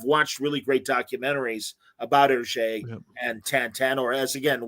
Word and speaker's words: Hergé: but the backstory of, am I saying it right, Hergé, the creator? Yep.